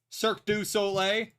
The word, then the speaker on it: Cirque du Soleil: Cirque du Soleil. If you want to pronounce it correctly.